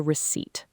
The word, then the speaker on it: receipt: That is a receipt. R E C E I P T. The p is silent.